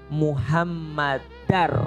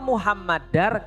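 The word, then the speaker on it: محمدًا: Asyhadu anna Muhammadar Rasulullah. Kenapa Muhammadar? Karena ada anna. Asyhadu anna Muhammadar Rasulullah. Kalau tidak ada anna berarti bacanya Muhammadur.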